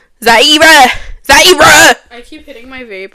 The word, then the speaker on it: Zaira: Like, have you ever heard of that girl named Zyra? Zara? Because, you know, they be saying my name wrong. Because I'm just... Zaira.